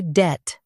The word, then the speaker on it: debt: Say det with the soft t at the end.